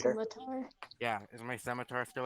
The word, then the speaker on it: scimitar: Is my Scotchmore still out? Or I can't ever say his name Scimitar. right. Scimitar.